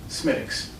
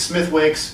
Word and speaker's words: Smithwick's: So here we go today, finally, Smithwick's.